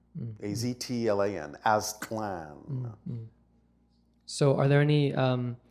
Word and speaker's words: Aztlan: But we know that the actual name in its ancient form was simply pronounced Aztlan. A-Z-T-L-A-N, Aztlan.